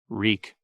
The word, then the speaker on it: Reek: Reek, it rhymes with peak.